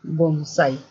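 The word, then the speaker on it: bonsái: Mi abuelita poda un bonsai. Lleva tilde en la A, puesto que es aguda, ¿no? Bonsai.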